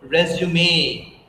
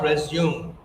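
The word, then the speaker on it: résumé: So the same thing here, you need to use the word resume and not resume.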